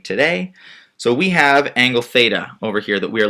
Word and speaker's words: theta: the page over here this Greek symbol is pronounced theta so like theta we often use that in